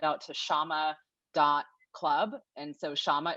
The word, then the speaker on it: Syama: And so Syama is obviously not spelled with an H because you see it listed on my picture. So don't do that. But it's SYAMA.CLUB.